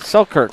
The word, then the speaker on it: Selkirk: one of our sponsors uh how do you pronounce is that silkert so kurt selkirk selkirk sports uh they are pickleball they've been